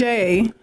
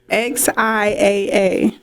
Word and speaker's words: Xiaa: Spell it differently, but say it the right way. It's simple, y'all. It's Xiaa. Xiaa. Xiaa.